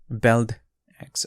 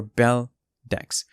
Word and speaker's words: Beldex: new project that's called belt x or bell decks um the pronunciation is up to you it's objective uh whether you want to whichever way you want to pronounce it but in this video